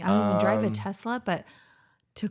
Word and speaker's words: Tesla: ] and another thing it's pronounced Tesla and not Tesla like pet peeve I've heard people pronounce Tesla Tesla with a z and it drives me